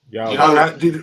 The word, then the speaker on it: Yahweh: So how do you pronounce Y-A-W-H? Yahweh.